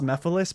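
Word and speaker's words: Mephiles: I know that his name is pronounced Mephilis, but like think about it this way, guys.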